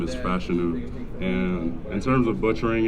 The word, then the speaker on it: Fashanu: How many ways have people butchered it? So my full first name is Olu Fashanu, then my last name is Fashanu, and in terms of butchering it, I mean, it's not really bad.